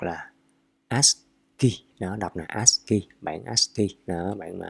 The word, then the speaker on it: ASCII: ASCII, ASCII, ASCII, hoặc là ASCII đó, đọc là ASCII, bản ASCII đó, bản mã ASCII.